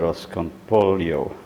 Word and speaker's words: arroz con pollo: of arroz con pollo which if you learn Castilian Spanish you will pronounce that hasta con polio anyway this is Argentinean